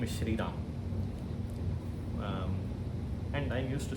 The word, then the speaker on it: Rama: See, if you, depending upon in which language you are speaking, if you are speaking Sanskritam, you have to stick and then say Rama. You cannot say Ram Gacchati.